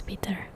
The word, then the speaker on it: Piotr: Oh yeah, he told me the name is Peter, so I don't try to like mispronounce it very badly.